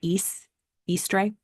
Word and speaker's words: Eastre: The linguistic roots, Old English, again, when there is a hard line over an E, that means you pronounce it like the actual letter, right? Eastre. And so apparently in German, Ostern is still how you say Easter.